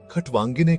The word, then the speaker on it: खट्वांगिने: खटवांगिने का उच्चारण खटवांगिने की तरह किया जाता है, जिसमें दे अन्नामी पपर बीकअप किल जोर दिया जाता है।